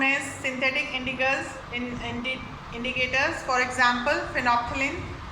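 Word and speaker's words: phenolphthalein: इसको आपको स्पेलिंग याद करनी है, फिनॉल। फिनॉल होता है, इसमें एल साइलेंट रहेगा। फिनोप्थिलीन, ठीक है। फिनॉप, यहाँ पे ये जो है फिनोप्थिलीन, ये जो फर्थलीन, फिनॉल, आप इसको कैसे पढ़ेंगे? फिनॉल। ये अगर पढ़ने में आता है तो ऐसे आएगा, फिनोप्थिलीन, ठीक है। तो यहाँ पर ये 3 चीज़ें साइलेंट हो जाएंगी। एल को हम प्रोनाउंस नहीं करेंगे, फिनोप्थिलीन।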